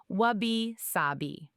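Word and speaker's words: wabi-sabi: Wabishabi. It's pronounced wab sabi.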